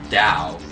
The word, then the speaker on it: Tao: understand what the word Dow means Dow t a o it's hard even to pronounce not hard but it's confusing to pronounce ta da most people my included have their strongest understanding of Dao or Daoism from the